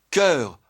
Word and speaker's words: cœur: Voilà pourquoi la graphie oe e se lit e. Voilà pourquoi on écrit sœur, cœur, œuf, meur et cetera.